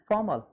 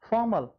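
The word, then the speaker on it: formal: So like this, are जो है से पहले ओ आ गया, ओवल आ गया हमारा। तो इसका मतलब है कि यहां भी हम लोग आर का उच्चारण नहीं करेंगे। This is फॉर्मल, this is फॉर्मल and this is इनफॉर्मल।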